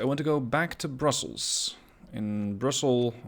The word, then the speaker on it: Brussel: Today, in episode 7 of this series, I want to go back to Brussels. In Brussels, or Brussel as we Dutch pronounce it, I have built a couple of additional bridges.